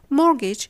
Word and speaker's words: mortgage: water ice, béret to refer to flattish cap, mortgage, which comes from the Old French to mean giving your property temporarily to someone as a guarantee for repayment and loan.